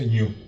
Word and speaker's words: GNU: el proyecto New o el proyecto gnu se pronuncia New que empieza en el